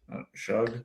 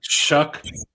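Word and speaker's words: Shough: Shug? Shuck. It's Shuck? the Shuckster.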